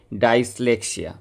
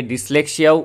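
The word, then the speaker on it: dyslexia: ও লেখা শেখার অসুবিধা এই রোগটার নাম কি ডাইসলেক্সিয়া অনেকে ডিসলেক্সিয়াও উচ্চারণ করে থাকে আর কি ডাইসক্যালকুলিয়া এটি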